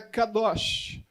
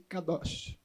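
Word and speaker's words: קדוש: a palavra em hebraico para a santidade é Kadosh também admite cadarço do para pronúncia mas eu gosto mais dessa aqui Kadoshi mais bonitinha ela aparece no texto em hebraico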